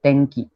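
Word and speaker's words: 天気: Okay, so it is pronounced like this if the sound ka and ga rose follows after the mura. तो tenki.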